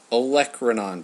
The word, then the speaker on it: olecranon: This is the olecranon process. A lot of people maybe can't pronounce olecranon process, I've found. It's exactly how it's spelled.